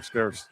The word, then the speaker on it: Scarce: Scarce. That's how you say it. Scarce is still in there. Like hitting buckets has been pretty scarce tonight.